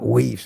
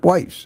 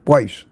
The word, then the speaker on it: Weiss: Pronounced very close. Very close. And people call me Whis and that's annoying. It's not Whis, it's Weiss.